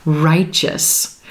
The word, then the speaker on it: righteous: this word righteous righteous here we have the letter T preceding our EO suffix but it sounds like chch CH and the ending is going to be that quick us single syllable pronunciation righteous righteous all right